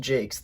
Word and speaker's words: Jacques: This is a collection of a bunch of short stories by Brian Jacques. And yes, it is pronounced Jacques.